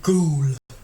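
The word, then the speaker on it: Goole: It's called Ghoul. Try and type it out. Not Google. It's spelt Google, but without the G.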